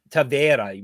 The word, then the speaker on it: Taveira: Taveira, right? Like Pereira.